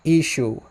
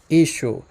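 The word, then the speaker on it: ܝܫܘܥ: But in the Western dialect, it's pronounced Ishu. Ishu. When you're writing it out, there is that letter ayin at the end. So it's possible that earlier on it was pronounced Yeshua, Yeshua, something like that.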